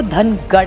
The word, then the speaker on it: धनगर: संसदेचे पटा मांडली है महाराष्ट्र मराठी में धनगर कहते हैं नॉर्थ में उसी को धनगढ़ कहते हैं सो इट is only a pronounce thing धनगर हमारे य मराठी